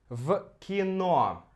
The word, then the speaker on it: в кино: В кино. Мы здесь «в» меняем на «ф». Звук «в» на «ф». Потому что следующий за ним звук «к», «к», он глухой. Глухой. Поэтому мы меняем «в кино».